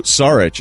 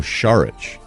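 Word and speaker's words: Šarić: it's marcin I believe Dario Sarich is now Dario sharukh have you noticed that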